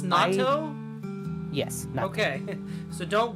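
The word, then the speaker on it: natto: it with spicy mustard and uh sauce it's pronounced Nat yes Nat okay so don't go and ask for NATO no uh you can get it at convenience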